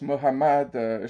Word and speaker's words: Mohammad: n'était pas chrétien et Mahomet qu'on prononce Mohammad chez les musulmans n'était pas musulman alors